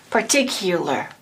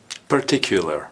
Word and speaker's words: particular: more you said partic that you is actually pronounced as you listen partic particular particular perfect particular good job same thing when we